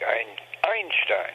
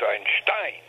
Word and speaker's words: Einstein: his name vion pronunciation Accent on the last syllable not the first as as one would ordinarily think in in German in German one would think Einstein but it's Einstein and uh viene okay